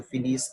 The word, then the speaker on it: finis: So this will be pronounced as je finis, tu finis, il, elle finit. That S, S, and T will be silent. In other words, the final S and T are silent, as I told you.